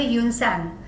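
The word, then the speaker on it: Hiuen Tsang: Great traveler Yun Sang also came here. T is silent.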